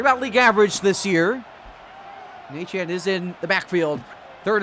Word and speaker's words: Etienne: As that's a pickup of about 6 there by, Etienne. Obviously, he said he was pronounced.